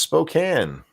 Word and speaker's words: Spokane: where we had scribed Spokane is pronounced Spokane no I thought so